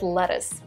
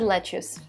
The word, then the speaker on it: lettuce: the word lettuce and i said let's use just because well this because this sounds normal like this sounds the way i would read it right let's juice and be like oh lettuce here you go the same